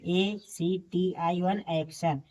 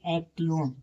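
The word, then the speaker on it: action: इसे स्टेशन पढ़ेंगे एक्शन ए सी टी आई वन एक्शन देखिए टी के बाद आई वन लिया है इसे एक्शन पढ़ेंगे नहीं कि एक्टिवन एक्टिवन नहीं पढ़ेंगे इसे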